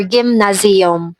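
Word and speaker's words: gymnázium: colleagues or in the gymnasium gymnasium or gimnazium. That's how they pronounce here.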